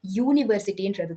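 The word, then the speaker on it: university: ஸோ இங்க வந்து அதை சவுண்ட் பண்ணி பார்த்தீங்க, அதை ப்ரொனவுன்ஸ் பண்ணி பார்த்தீங்கன்னா உங்களுக்கு வந்து யூனிவர்சிட்டின்றது தான் தோணும். யன்ற ஒரு சவுண்ட் வரனால அந்த ஒய்ன்றது ஒரு consonant sound. It's not completely a consonant, but அந்த வேர்ட்ல வர ஒரு கான்சனன்ட் சவுண்ட் தான் யூ.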